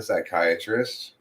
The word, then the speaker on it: psychiatrist: I'm new psychiatrist don't call me a psychiatrist okay the p is silent we also got